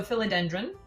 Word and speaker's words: philodendron: want to be clear it's not the same but it's pronounced the same uh so philodendron um and that's used